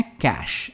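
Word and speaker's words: cache: slow हो जाता है इसकी प्रनंसीएशन है कैश सिंपल है कैश कोई स्ट्रेस नहीं कैश इसे मलबा कहते हिंदी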